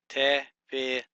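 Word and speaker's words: תְּפִלָּה: Okay, so what we're going to do, the first syllable is going to be a tav with a dagesh and a shava. Put a vertical line, a fe, a hirik, and a lamed. Since you got this dagish forte in the lamed, that means doubling dagesh. Then you start the third syllable with lamed, comments, and hey.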